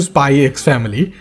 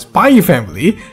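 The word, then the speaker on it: Spy × Family: Before we get into Spy X Family, which is also mispronounced as Spy Family, and Spy Into Family, which is very weird by the way, we need to talk about today's sponsor, Skillshare.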